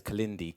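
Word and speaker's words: Kilindi: Or if you've got a photographic memory, please remember it is spelt K-I-L-I-N-D-I. That is Kalindi.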